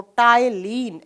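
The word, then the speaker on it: ptyalin: किया जाता है 30 एचपी यहां पर साइलेंट रहता है इसको टायलिन Mi लेस एंजाइम कहा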